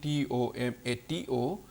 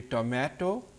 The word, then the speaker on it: tomato: Now, tomato is the string TOMATO, and the word typically is pronounced in two different ways. It could be tomato, okay, or tomato. The A vowel here can be pronounced in two different ways as A or long vowel A or a, okay, which is a combination of two vowel sounds.